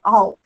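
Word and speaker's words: Erll: Existe uma teórica que se chama Astrid All, ela é alemã, então se escreve E-R-L-L, L, né, mas é All.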